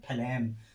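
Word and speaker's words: phlegm: जी आया है लेकिन उसका उच्चारण नहीं हो रहा है। इसका उच्चारण क्या हो रहा है, फ्लैम, फ्लैम माने क्या होता है कफ।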